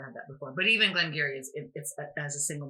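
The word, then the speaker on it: Glen Garioch: malt and you know glenn gary and for those of you who are thinking i've never seen glam gary before it's spelt g-a-r-i-o-c-h so yes you may have had glenn garriott before yeah or glenn garrick i also get that too yeah so that is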